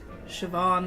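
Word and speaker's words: Siobhan: but it's Neeve right is it another one of those names that's like sioban that doesn't look like that's how you say it maybe you it's cuz it's spelled s i o b h n or something crazy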